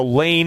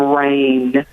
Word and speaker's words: Rain: We're going to go over to Lane in Prescott Valley, Arizona. You're live with Dr. Glidden. Hello. Hello. Hey, how are you today? I'm good, and I think you mispronounced my name. I'm Rain.